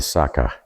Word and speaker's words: Saka: So in the 3rd to 5th century BC, they say the people here were called the Saka. S-A-K-A is how they're pronouncing it.